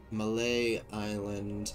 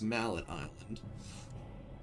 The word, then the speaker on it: Mallet Island: Escape Malay Island before it collapses. Otherwise known as Mallet Island. The correct way to say it.